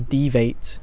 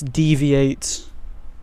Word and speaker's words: deviate: I think I used to pronounce him as devate. Devate. I I think that's how it I used to pronounce it. I I'm not so sure though. Yeah. Know Devite.